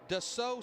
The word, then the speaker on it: Dassault: And it's actually Dassault Systems.